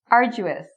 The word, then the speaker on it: arduous: Arduous, arduous.